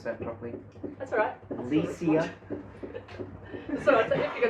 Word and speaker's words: Lecia: Lecia. So I thought if you're going to stay on the internet, I thought, oh, I better correct you on that one. It rhymes with VCR. Lecia.